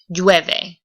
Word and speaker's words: llueve: Llueve. Okay, remember you're going to pronounce the double L like a Y.